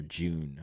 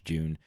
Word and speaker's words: Jun: also on Jun or June however you want to pronounce her name I I usually say Jun because it's JN but apparently it's June uh Jun here uh